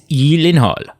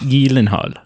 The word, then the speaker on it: Gyllenhaal: And so I'm sure he also Is it Yelenhal? It's Yelenhal. Yeah. Is it really? It is. Yeah. It's got You got to put the the like Nordic Swedish kind of Yenhal.